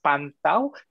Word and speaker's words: Pantau: I'll spell it again for all of us here today. It's Pantau, P-A-N-T-A-U, Kuasa, K-U-A-S-A, those are in one word, .org.